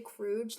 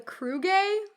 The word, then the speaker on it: Kruge: anything, it should be a Kruga. Kruga. If it has to be 2 syllables, it should be a Kruge. Kruga, not a Kruge.